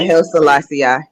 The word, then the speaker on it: Haile Selassie: Yeah, Haile Selassie.